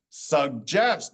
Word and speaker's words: suggest: I just said it still makes the same hard G sound, but in this case we have a hard G and a soft G.